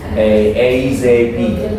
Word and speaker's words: ASAP: Mereka bacanya nggak asap nggak. AZP. Ya. AZP. Ya.